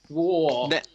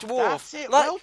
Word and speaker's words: dwarf: I'll try my best dwarf no that's that's the bloke out St D dwarf like that dwarf like a like a like a ship's Warf yeah I struggle with